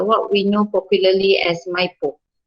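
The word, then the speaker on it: MyIPO: we know popularly as maipo so some people pronounce that my po some say my ipo so you decide how you want to call it but uh to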